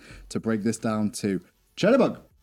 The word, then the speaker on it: Chernobog: Chernobog. Is that what he said? Chernobog? Yep, Chernobog. Chernobog. I got it right.